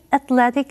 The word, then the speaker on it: athletic: George 生来就是运动员的料，他既强壮又非常有弹性。它的形容词是把字尾的 E 去掉，再加上 IC 变成 athletic。这时候重音会移到L-E 这个音节，而且 E 会变成发 A 的音，念成 athletic。例如 Emma is very athletic and plays many kinds of sports.